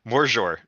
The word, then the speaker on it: Magyar: Because the main language of Hungary is it's not pronounced Magyar. It's apparently pronounced Morzsor, which okay, I'm still gonna call it Magyar because it's just easier to say.